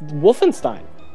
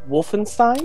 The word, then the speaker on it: Wolfenstein: but this is um you know it's it's Wolfenstein yep I'm going to love this game um